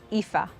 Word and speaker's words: Aoife: But how do you say it? Ifa.